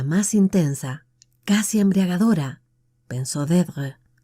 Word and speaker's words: Deirdre: Solo una persona había pronunciado su nombre de aquel modo, con un ligero acento en la primera sílaba que la convertía en una caricia.